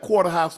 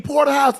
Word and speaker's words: porterhouse: He said, yeah, let me get that quarter-house steak, cook it well. I'm like, quarter-house? I said, you mean porterhouse? Yeah, that one. Hey, he's saying it wrong.